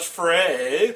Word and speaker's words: Frey: They pronounce it Frey.